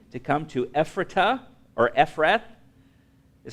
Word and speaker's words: Ephrath: They journeyed from Bethel, that was but a little way, to come to Ephratah, or Ephrath, is how it's pronounced here.